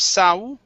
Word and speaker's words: saw: sa Okay Okay Okay Instead of saw adding an uh it's only an a sound So uh he looked